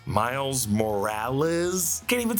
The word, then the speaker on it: Morales: Yeah, the two Mileses now repeat their last name as Earth-42 Miles emphasizes a more Puerto Rican pronunciation, whereas Earth-1610 Miles' pronunciation is more Americanized.